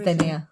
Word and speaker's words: zinnia: I thought there was another I in there. There isn't. It's Zinnia.